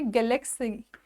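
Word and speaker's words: GalaxEye: तो अगेन यहाँ पे स्पेस टेक्नोलॉजी स्टार्टअप है एक, जिसका नाम है गैलेक्सी। गैलेक्सी तो है पर स्पेलिंग में आप गैलेक्स आई जो है आंख वाला आई, ये देख सकते हैं।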